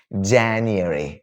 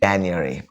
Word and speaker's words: January: So January വേണ്ട, January. January എരിയാണ് കേട്ടോ, എരി. January, January.